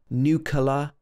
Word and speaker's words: nuclear: In the British English pronunciation, this should be n-y-u, new at the beginning. New and then clear, like a clear day. But a lot of people will say nuclear, nuclear, and other pronunciations.